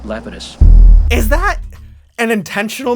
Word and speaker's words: Lapidus: actor Jeff Fay leus they pronounce it leitus but I think the correct Greek uh is uh Lapidus is that an intentional